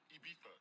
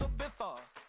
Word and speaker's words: Ibiza: I just went to Spain, that's a Ibiza. Yeah, it's pronounced Ibiza, actually.